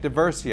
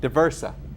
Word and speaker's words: D'Aversa: the Veterans Court in Nassau County and Frank de Bercy oh I screwed that name up too didn't I yes sir thank you diversa DIA versa Thea versa yes sir okay Frank and Howard I'll call